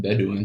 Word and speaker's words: Bedouin: box here the woman of the nomadic benue pronounced bedouin tribes of pre-islamic arabia played important roles in